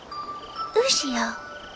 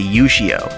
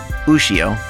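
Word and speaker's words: Ushio: own daughter's name right having seen kenad in Japanese first hearing tomoya say yio really threw me off and ruined the dub from then on it's not just him some characters say it right usio while the rest add the extra U to the start what's worse is that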